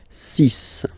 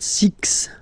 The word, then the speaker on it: six: be careful here because even if it's ending with this x well you'll have to press pronounce it like s okay so you get the sis pronunciation Sis Sis okay so it's not six it's sis all right then here